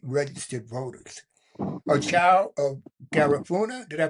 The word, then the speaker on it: Garifuna: A child of Garifuna, did I pronounce that correctly?